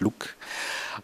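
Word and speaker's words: LIWC: We applied the standard methods in psychology called LOOK, Linguistic Inquiry and Word Count, pronounced LOOK, and is basically a dictionary of words in different classes generated by psychologists, and they put words in certain classes.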